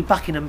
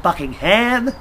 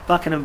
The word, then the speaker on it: Buckingham: Buckingham Palace you can't you don't pronounce the h or at Buckingham Palace not bucking him Buckingham Palace they've been on